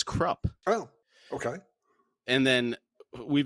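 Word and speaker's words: Kruppe: the names are okay so Krupa Mr Erickson pronounces it as crop oh okay and then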